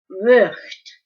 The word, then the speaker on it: Vught: So just know, Vught is how you say it.